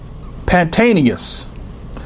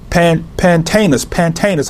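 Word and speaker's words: Pantaenus: Paul incorrectly, we have Matthias and Pantanius. Now, I may not have pronounced the names properly, but Pantanus, I should say, and Matthias, or some say Matthias, or whatever.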